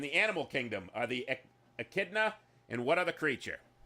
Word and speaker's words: Echidna: wrong the eknita hey Karina how do you pronounce that one Magnus told me and I forget echnada and what other creature Echidna there you go the only known monotromes in